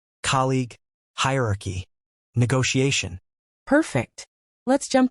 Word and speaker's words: colleague: Stress on the first syllable and a clear G sound at the end.